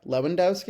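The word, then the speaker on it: Lewandowski: But like you could make the case Leewendowski was the last one. Yeah. Yeah. Yeah. I guess that like I like how you said Leewendowski. Yeah. Lewendowski. Is that how you pronounce it?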